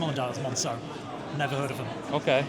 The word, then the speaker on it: Moncaeu: First of all, I have no idea how you pronounce the brand name, so please tell me how you pronounce it. So it's Moncaeu. Moncaeu.